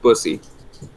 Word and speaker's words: bussy: It's like pussy, but like with a B.